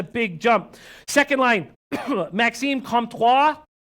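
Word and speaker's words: Comtois: jump second line Maxime comptoir I'd be careful when you pronounce his last name Kampf wha and Adam Henrique and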